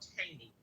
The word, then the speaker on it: Cheyney: I believe that's what he was trying to pronounce. Yeah. It's called Cheyney.